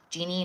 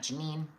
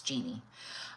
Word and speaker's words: Jeanie: So, Genie, not Jenny, not Janine. It's Genie.